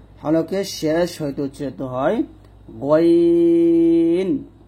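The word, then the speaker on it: غ: তারপর 3 নং মাখরাজটা হচ্ছে হলকে শেষ হইতে উচ্চারিত হয় গইন খ। আর এই দুটো হরফ আমরা কণ্ঠনালীর শেষ থেকে মোটা করে উচ্চারণ করব। গইন গ, মোটা করে গইন খ, এরকম ভাবে।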